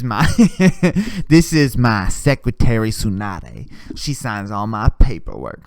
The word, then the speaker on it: Tsunade: is secretary sanade and it's spelled like sunday with a t at the beginning like tsunami like it's so dumb it's a tsunade and it's just sunday